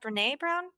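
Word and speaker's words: Brené Brown: Is it pronounced Brene Brown?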